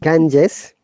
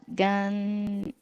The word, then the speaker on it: Ganges: yeah, The Ganges. very good. The Ganges, not Ganges, yeah? Yeah. Because after G is E. E sound. That is ja.